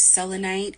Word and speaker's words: selenite: need a very salt based Crystal I use selenite it's spelled s e l n it selenite um it's a salt crystal here it is